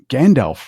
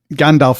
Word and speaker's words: Gandalf: Oh, in Old Norse, it actually would have been pronounced Gandalf. Well, I mean, the Old Norse in the nominative would be Gandalfur with an R at the end. But yeah, it would have been pronounced as a V, at least in that form.